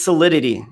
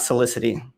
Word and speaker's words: Solidity: see life with apollo is it solidity or solidity oh it's solidity you're right i i mispronounced it my apologies thank you for calling me out i appreciate it it's solidity not solicity solidity is the blockchain